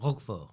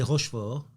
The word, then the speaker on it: Roquefort: Roquefort. So you don't say Rochefort, it's Roquefort.